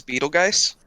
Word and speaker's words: Betelgeuse: This star in the constellation of Orion is spelled with a G. The 1988 Tim Burton flick, pronounced the same, is spelled with a J. Brandon. What is Betelgeuse? Oh, I guess it isn't pronounced the same.